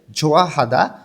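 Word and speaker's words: 좋아하다: জোয়া হাদা পছন্দ করা আমরা জানি হিউ বাচ্চিমের পরে যখন ইয়ং আসে তখন হিউথটা ইয়ং এর স্থানে যায় না এইজন্য এখানে উচ্চারণটা হবে ছোঁয়াহাদা পছন্দ করা শিরোহাদা অপছন্দ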